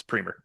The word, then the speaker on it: Preamer: the next few months because it looks like premer to me, man. But it's Preamer. Here we go. It remind it it rhymes with my last name.